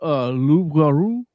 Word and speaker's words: loup-garou: In French it's called loup-garou, which means werewolf, but in the Netflix English, Wait, how do you say werewolf in French?